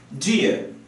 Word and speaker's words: do you: If you ever go to England, do you is commonly pronounced as dear. Dear. So questions like this are going to sound something like this.